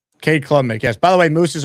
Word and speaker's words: Cade Klubnik: Cade Klubnik, yes.